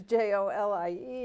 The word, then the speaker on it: Jolie: on her bed it's her name is Jo li e but it's actually Jo Li okay well you can